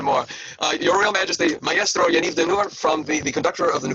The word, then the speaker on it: Yaniv Dinur: So one more time, Yaniv Dinur. Sorry? The correct pronunciation of your name, Yaniv Dinur?